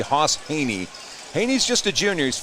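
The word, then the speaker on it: Hejny: his name's Haas Haney he doesn't spell it that way it's spelled h-e-j-n-y why it looks like hedge knee but it's actually Haas Haney Haney's just a junior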